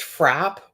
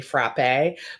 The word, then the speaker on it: frappe: a little meltdown about like whether um it's pronounced frap or frappe and I was like he just shortened it it's definitely frappe but they were like what if I've been